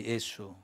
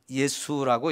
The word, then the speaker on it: 예수: 예수. 근데 이 이름도 하나님이 낳기 전에 이미 지어준 이름이에요. 임마누엘이라는 이름도 역시 하나님이 세상에 태어나기 전에 미리 정해준 이름인데요, 두 번째 이름이 예수인데, 이 예수라는 이름 발음은 헬라식입니다. 헬라식.